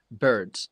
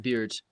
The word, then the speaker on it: birds: But um the pronunci birds, not beards.